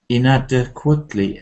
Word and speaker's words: inadequately: Because inadequate, there is a kind of soft syllable, inadequately. So how many syllables are there? Five, I think, altogether. And I think the stress is on the second, inadequately. Okay, inadequately.